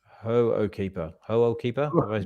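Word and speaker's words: Hoʻokipa: well-meaning um listeners that we weren't pronouncing ho keeper properly we were saying whoe keeper but it's pronounced hoe keeper ho keeper I pronounced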